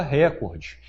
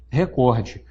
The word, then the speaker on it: recorde: Mas muita gente fala recorde. Então, se você escrever assim na redação, provavelmente você vai perder ponto. Porque a previsão da gramática é recorde.